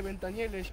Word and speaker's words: Ventanielles: otro ventes Exacto te dijeron que se dice benta nieles o es que porque por ser argentino no pronuncias bien la No todo lo que ustedes